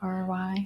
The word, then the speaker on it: Emery: An Emery, like an Emery board? Yeah, well, yeah, that's not how you spell it, but Emery.